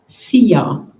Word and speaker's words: Szia: The short word is not too difficult to pronounce, Szia.